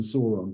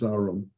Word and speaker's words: Sauron: Sauron who you never I was called him saon but apparently he's Sauron according to the pronunciation guide um you know you